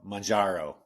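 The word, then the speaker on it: Mounjaro: Majaro is how you say it.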